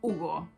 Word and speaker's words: Hugo: Porque ¿quién es Hugo? ¿Quién es Hugo? Le tienes que decir Shigaemasu Hugo des.